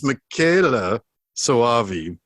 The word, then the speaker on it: Michele Soavi: screw up what jason told me how to pronounce his name is makayla sawavi sometimes known as michael um we've we've had